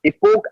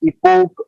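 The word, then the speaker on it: epoch: इसका प्रोनाउंस समझ गया, इपोक एंगल कहते हैं इसे। क्या कहते हैं? इपोक angle. ये एच साइलेंट होता है।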